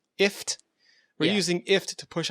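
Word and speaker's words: IFTTT: No, it's pronounced IFT. IFT.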